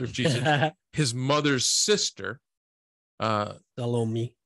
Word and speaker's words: Salome: John specifies four women: Mary, the mother of Jesus, his mother's sister, Salome. How do you say that? I think so. It's like salami? Yeah. Salome? Yeah.